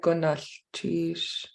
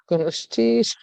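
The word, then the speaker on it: Gunalchéesh: or maybe they did Gunalchish. Was it like this? Yeah. Gunalchish. Yeah, I don't spell it that way, but if I was reading it, I would say Gunalchish.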